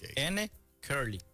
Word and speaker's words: Encurly: N de Nair, Curly de La pronunciación en inglés de la letra N. Correcto. No EN. No EN, No, N sola.